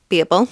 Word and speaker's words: Babel: And the first book I read by her is Babel or Babble, whichever way you want to pronounce it.